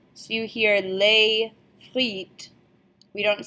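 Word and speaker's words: les frites: more than one since we don't pronounce the S on the end of the word so you here lay fleet we don't say lay fleets delay is the only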